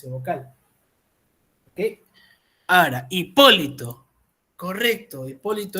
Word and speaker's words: Hipólito: vocal ahora Hipólito correcto Hipólito es esdrújula hipolito es Hipólito Esta es la respuesta es